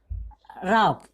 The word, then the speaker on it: rough: राफ।